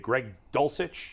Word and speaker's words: Dulcich: to tight ends here for a minute Dave Greg dulcich is that how you say his name yes